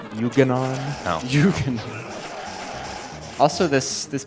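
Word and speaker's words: Yuga Ganon: Yeah, this And how do you pronounce his name? Buchanan? It's pronounced Yuganon.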